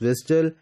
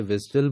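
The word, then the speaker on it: WSDL: रही होती है और डब्लू एसडीएल is pronounce as विडल and spell out एज डब्ल्यू एसडीएल तो डब्ल्यू एसडीएल को हम प्रोनाउंस करते हैं जब जनरली तो हम इसे विजल बोलते हैं लेकिन जब इसे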